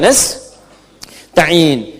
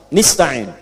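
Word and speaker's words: نستعين: Iyaka na'budu wa iyaka nastain'in. Ada yang baca pakai kasrah. Nista'in ya. Nistain ini bacaannya dari Bani Asad, Rabiah, dan Bani Tamim. Tapi kita baca harus menggunakan fathah kalau untuk kita ya.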